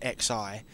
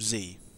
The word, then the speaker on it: Xi: called z now i know back then i pronounced x i and i was wrong um the game was called z this like roman numeral thing so i done